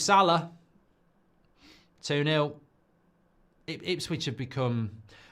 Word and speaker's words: Salah: much Liverpool scor again it rhymes with Farah it's Moos Salah 2-0 ips switch have